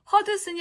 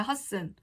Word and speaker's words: Hudson: 허드슨이 아니라 허슨입니다. 드는 발음이 나지 않아요. 허슨. 허드슨 아니고 허슨.